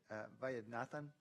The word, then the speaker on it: Vaidyanathan: Okay, we're now on the consent agenda, and Director Vaidyanathan, and please forgive me for mispronouncing your name again, but you had 2 items you want to pull from the consent calendar? Mayor, 6.7 and 6.8, and you pronounced it perfectly.